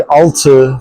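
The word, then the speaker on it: altı: We say alton for golden and we say alter for six. It's almost the same pronunciation and that's why the architect misunderstood.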